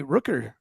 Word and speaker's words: Rooker: You know what Amy Rooker rhymes with? Booker.